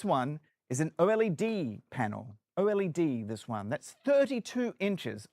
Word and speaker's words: OLED: Did you know it's pronounced OLED? Don't say OLED, that is incorrect.